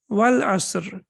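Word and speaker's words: والعصر: But in the Quran, how do we recite it? We recite it Wal-Asr, right? Wal-Asr. And what happens? They become omitted. We don't pronounce them. Excellent. Yeah, because we are connecting over here, so it becomes Wal-Asr.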